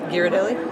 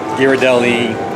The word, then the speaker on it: Ghirardelli: And I learned how to pronounce Ghirardelli. Ghirardelli?